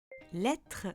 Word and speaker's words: lettre: Lettre, je prononce est.